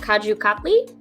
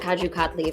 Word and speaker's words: Kaju Katli: So this is a cashew candy called Kaju Katli, and it's spelled with a K.